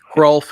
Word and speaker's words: Hrulf: Hrulf is spelled Hrulf. You pronounce the H.